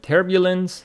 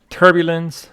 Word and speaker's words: turbulence: And turbulence, the noun for that. So if we go to our alignment for the word turbulence, here we have turbulence with the stress on the first syllable.